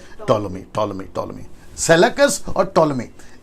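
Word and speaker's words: Ptolemy: दरअसल सेलेकस और टोलोमी, right pronunciation, टोलोमी, सेलेकस और टोलोमी के बीच में यरूशलेम है।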